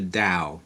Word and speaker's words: Tao: back where talks about the da da is spelled Tao the da is he's